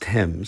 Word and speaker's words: תם: The last two characters, the tau mem, pronounced tem, signifies that this verb, which is in the perfect tense, is in the second person plural.